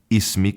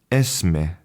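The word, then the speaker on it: اسمي: And my Arabic teacher, she pronounced, when you introduce yourself, you say, Ismi, Ismi. But when I met my sister's friend who was from Lebanon, her pronunciation was Esme. So again, the consonants were important, but the only sound change was in the vowel.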